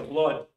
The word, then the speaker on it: blood: Pero resulta que en la palabra sangre, que se escribe con doble O, se pronuncia blood. ¿Con qué? ¿Con qué se pronuncia? Con nuestra A.